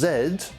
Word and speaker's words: zed: that's infected the zombies known here in as zedd and yes i'm aware that's how most other english-speaking countries pronounce letter z will gain a point